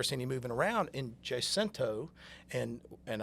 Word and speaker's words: Jacinto: him moving around in Jacinto and and I was taught that it's pronounced Jay Center in the same way that my papa would talk about a pimento cheese sandwich.